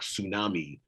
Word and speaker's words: tsunami: see a word like tsunami, we pronounce it as though the T does not exist.